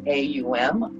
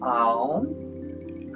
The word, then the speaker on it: Om: If you choose to OM with us this morning, we're going to pronounce it AUM, OM.